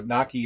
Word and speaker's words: gnocchi: okay all right so Naki is an acceptable pronunciation in gnocchi which just feels wrong uh order takeout charade